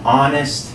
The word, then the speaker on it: honest: It's an honest man, because we don't pronounce this honest. If you did say honest, then a honest man would be acceptable. But again, because the sound is a vowel sound, an honest man is correct.